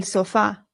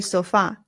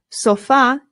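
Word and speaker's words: sofá: In English, we put the stress on the O and we say sofa. But in Spanish, the stress goes on the A.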